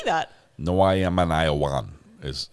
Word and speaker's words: Iowan: No, I am an Iowan, is how it says.